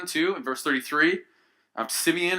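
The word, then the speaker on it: שמעון: in verse 33 I'm Simeon or in Hebrew be pronounced more like shim ohn which sounds a lot like it really comes from the Hebrew word to fear you've heard of the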